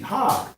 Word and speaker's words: Chag: So feast is Hag. So feast of tabernacle is Hag Sukkah. Feast is H2282. That's spelled C-H-A-G, Hag.